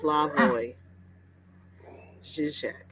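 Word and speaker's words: Slavoj Žižek: the duck really cool says it's pronounced slavoy shishek thanks really someone wants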